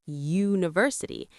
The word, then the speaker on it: university: Yes, U is a vowel, but university is pronounced university. It starts with a Y sound, which is a consonant sound.